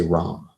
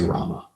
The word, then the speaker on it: Rama: of that is that some people will say Ram they won't say Rama okay real you know conservative devotees will say it's a 16 syllable Mantra you should chant Rama you should say Rama I think in the beginning that's how pra taught it but if you hear propa doing japa he's saying wrong you know so so